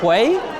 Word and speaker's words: Huy: Sorry, and just so I get this clear, because I've seen people pronounce your name differently on the internet. Is it Ke Huy?